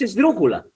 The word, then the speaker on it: esdrújula: La palabra esdrúcula es esdrújula. Mire, dijémonos, ¿no? La es átoma, la última sílaba. Cu es átona, la penúltima. Y dru es la antepenúltima y es la sílaba tónica.